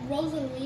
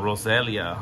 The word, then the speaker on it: Roselia: Oh, I thought you said Rosalina. No, Roselia. I think how you pronounce it.